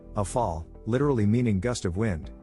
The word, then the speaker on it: Rafale: The Dassault Rafale, French pronunciation, ʁafal, literally meaning gust of